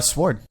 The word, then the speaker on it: sword: listen there's no such there's no such thing as a silent W that was just invented quote unquote for this word for whatever reason that's